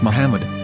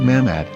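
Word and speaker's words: מחמד: yehudas hebrew english dictionary it is correctly pronounced as muhammad not mahmad so how we're going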